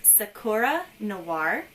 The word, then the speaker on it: Sakura Noir: my channel name is sakura noir sakura is a japanese word for cherry blossom and noir is the french word for black so let me explain